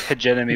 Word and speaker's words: hegemony: I believe it's pronounced hegemony. Yeah. I believe you're right. I just not my language. It is hegemony, but nobody likes everyone.